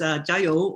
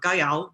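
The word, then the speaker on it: 加油: I'm going to tab through the piece that was actually fairly short-lived in Chinatown, which was Jiayou or Gaiyao, depending on which way you're going with the pronunciation.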